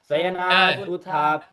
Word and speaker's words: शयनात्: प्रबोध्य शयनात् उत्थाप्य शयनात् शयनात् शयन उत्थाप्य नहीं, शका तालव्य शकार है। आप तालव्य ठीक है शकार ऐसा बोलते हो, परंतु उच्चारण में तालव्य शकार नहीं करते हो। स श दंत्य ष दंत्य सकार बोल देते हो, कैसे होगा? स श ष तो आप ये बोल रहे हो, परंतु बोलते हो पारायण में नहीं बोलते, बोलेंगे तो कहा है क्या आया?